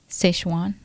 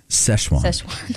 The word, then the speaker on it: Sichuan: They in Sichuan. Sichuan. Like the sauce.